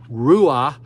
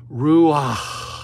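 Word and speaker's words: רוח: your body pronounces it Ru you have to actually say the word now you're going to make fun of me in Hebrew you actually it's like a Scottish H you pull that H out in Hebrew R is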